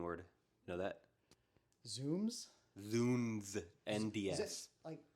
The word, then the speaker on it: zounds: Is it like Zounds? Is that what it is? How do you spell it? I think it's, Zounds is like how you might read it, but I think it is pronounced Zoons because it's the shortened version of God's wounds.